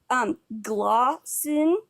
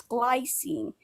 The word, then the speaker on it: glycine: Also, you said glycine before. It's glycine.